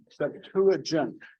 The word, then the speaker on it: Septuagint: How do you spell that? The Septuagint, just like it sounds. It's SEPTU. I think it's GENT something. Septuagint.